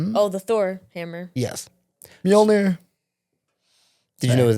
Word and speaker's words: Mjolnir: It's pronounced what it's called. Mjolnir.